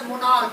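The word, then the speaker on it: monarch: जैसे अगर उसका प्रोनाउंसिएशन जैसे मोनार्क है, मोनार्क, अब उसमें का आया है, मोनार्क में क्या आया है, का। इसका प्रोनाउंसिएशन क्या आया, का।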